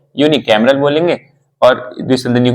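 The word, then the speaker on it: unicameral: उसको इंग्लिश में क्या बोलेंगे एक सदन को यून कैमरल बोलेंगे और द्विसदनीय को इंग्लिश में क्या बोलेंगे बाय कैमरल तो यून कैमरल की स्पेलिंग है यू एन आई सी ए एम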